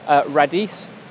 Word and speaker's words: Radice: go and see Rebekah Radice Rebecca is spelt with ka h on the end by the way ray dese are a DIC e google her name you'll